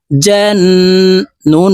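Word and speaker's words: الْجَنَّةَ: সাথে গুন্নার সহিত পড়বো জান নুন জবর না তা জবর তা জান্নাতা মুলতা ওয়াকফুর ক্ষেত্রে হার উচ্চারণ হবে এবং হা কে সাকিন করে ফেলবো এভাবে শব্দটি বলতে হবে দেখুন জান্না জান্নালাইতামিন কফ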